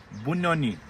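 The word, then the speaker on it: Bunyonyi: हाउ डू you pronounce it? बुन्नोनी।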